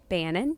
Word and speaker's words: Bannen: If you can spell it. Yeah. But so it's Kelleigh, Kelleigh, Bannen, Bannen.